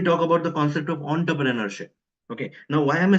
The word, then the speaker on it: entrepreneurship: So in French they pronounce this e N as on. Hence I'm pronouncing this as entrepreneurship.